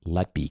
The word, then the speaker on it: Letby: Uh the Lucy Lety case. Did I pronounce her last name right? You did.